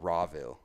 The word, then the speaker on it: Rawville: And it's actually pronounced, everyone calls it Rahaville, but I call it Rawville.